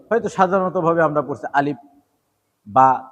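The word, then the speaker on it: ب: দিব আলিফ আলিফ আলিফ বা বা বা এই বায়ের মাখরজ 15 নাম্বার মাখরজ মুখের দুই টোট থেকে এই মাখরজ উচ্চারিত হয়।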